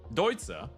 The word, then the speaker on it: Deutsche: Now, Deutsche, which is how you say it. It's the Balkan way, so I'm giving you a little bit of time to get used to it.